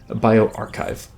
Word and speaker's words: bioRxiv: It's BIORXIV, corona, or bioarchive. It's spelled not like it sounds, but it works out.